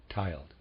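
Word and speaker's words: tyled: the worshipful master is has the lodge been tiled reader aside spelled t y l d i Am pronouncing that tiled and of reader aside the number of Freemasons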